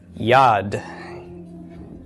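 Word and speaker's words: יד: on your vocabulary list how would this be pronounced Yad the why of the yodh short a of the comments followed by the D of the Dalit okay so yad yad is a hand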